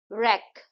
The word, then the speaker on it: wreck: रैक, इसमें W silent है.